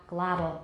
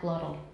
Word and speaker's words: glottal: Okay, I say glottal, not glottal. Everyone, glottal. Glottal. 那个 T 是个 tap, 像个很短的 D, glottal.